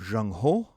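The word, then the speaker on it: Zheng He: and the employment of Jean Ho which in English is spelled Z H E N G and H which is H E in English.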